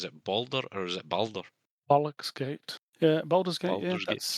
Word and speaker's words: Baldur's Gate: Yeah, Baldur's Gate.